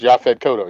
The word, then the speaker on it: Yaphet Kotto: Yes, I believe it's Yaphet Kodo. I That's know Yaphet Kotto? I'm mispronouncing his name. Yes. No, it's Yaphet Kotto, yeah.